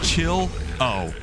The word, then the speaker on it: Chillo: I believe that's how you're supposed to say your name. Chill O. Sorry I've been calling you Chilo all the time. But hey, you know, at least now I'm pronouncing your name right.